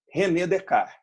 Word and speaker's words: Descartes: é em português falando a pronúncia correta relé de cá reunião de cá teve